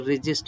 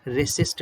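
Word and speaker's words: resist: यहाँ पर रेजिस्ट, इसका प्रोनाउंसिएशन है रेजिस्ट, रेसिस्ट नहीं होगा, रेजिस्ट, जा का साउंड है, जेड का, रेजिस्ट।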